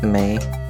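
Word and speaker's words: Mei: Her name is May, but it's Chinese, so it's spelled M-E-I.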